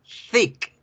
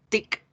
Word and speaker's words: thick: Si yo no la pronuncio bien y la pronuncio con T, tic, la gente ya inmediatamente va a entender otra palabra que nosotros también la sabemos,